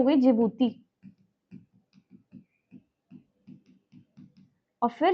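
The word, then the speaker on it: Djibouti: सब याद हो जाएगा डी साइलेंट है जिबूती बोलते हैं हम लोग डी से शुरू होती है इसीलिए यह हम चार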